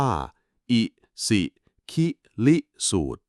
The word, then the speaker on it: อิสิคิลิสูตร: มี ชื่อ ว่า อิสิคิริสูตร คำ นี้ อ่าน ว่า อิสิคิลิสูตร คำ ว่า อิสิ แปล